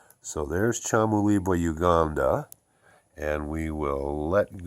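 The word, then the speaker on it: Kyamulibwa: box and put in Chamulibwa, which is spelled K-A or K-Y-A, but pronounced like a C-H. So there's Chamulibwa, Uganda, and we will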